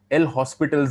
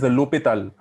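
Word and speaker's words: L'Hôpital: Now, if we go into the solving part of it, we have something called L'Hospital's rule. Okay, what is L'Hopital? L'Hospital is actually pronounced as L'Hopital.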